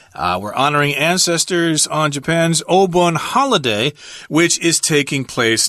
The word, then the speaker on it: Obon: But of course, in Japanese pronunciation, it's Obon.